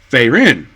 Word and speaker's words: Frieren: the main character's name based upon what I hear how the voice actors in the show pronounce their name fairin not like separate like